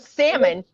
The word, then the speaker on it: salmon: I'm listening to a video that says even though there is an L in the word salmon, it is silent.